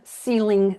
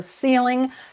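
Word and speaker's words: Seling: am the only Ceiling on the planet. So, Ceiling, pronounced like up there, but spelled like feeling with an s. So, s e l i n g.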